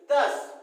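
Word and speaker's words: thus: दस, इसको बच्चे बहुत सारा प्रोनाउंस करते हैं, थस, हां ठीक है, थस नॉट थस, it's called दस।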